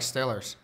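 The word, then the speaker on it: Steelers: Here it says still. Still. Oh, like Stillers. The Stillers. Yeah. If I say still, you hear Stillers.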